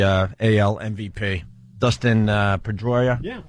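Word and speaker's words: Pedroia: boss got the uh Al MVP Dustin uh pedya yeah right that's how you say it yep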